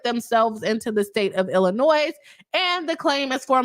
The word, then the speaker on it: Illinois: am I saying Illinois Illinois right ill not you don't pronounce the S um but there's some